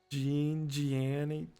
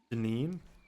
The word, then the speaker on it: Janine: Gianni. I don't spell it like that. Janine.